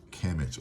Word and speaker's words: Kemet: So KMT is oftentimes pronounced Kemet or Kemet.